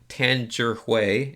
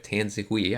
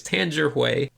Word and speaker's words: Tangerhui: to redeem myself and pronounce his name correctly, Tangerhui, instead of Tanzihui. I always say it wrong, but it's Tangerhui.